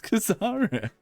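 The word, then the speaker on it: Kazzara: I've always pronounced it Kazara. Kazra. It's Kazara.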